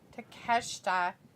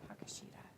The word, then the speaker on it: Takeshita: to catch in there takeshita is how you say it hi bad i got it i thought it was takashita but it's not it's takeshita to catch a cold